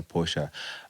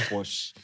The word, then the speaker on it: Porsche: And you know the funny thing is that the person who designed the original designer Porsche designed the Beetle.